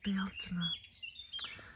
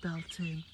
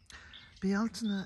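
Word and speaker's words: Bealtaine: of summer festival of bialtona now some people say belting but of course that's the wrong pronunciation bialtena is an ancient celtic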